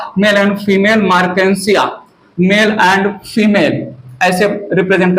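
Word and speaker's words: Marchantia: Mail मार्केंसिया अपना अपना pronunciation कर लीजिएगा, मार्चेंटिया जो भी है, अलग अलग लोग, ठीक है। मेरा प्रोनाउंसिएशन है मार्केंसिया।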